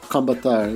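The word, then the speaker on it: Kombëtar: Kombatar, yeah.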